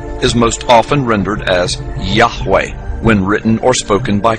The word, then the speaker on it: Yahweh: most often rendered as Yahweh when written or spoken by Christians and others it is still never pronounced allowed by Orthodox Jews the pronunciation Jehovah is an older less accurate rendition of these letters it originated with the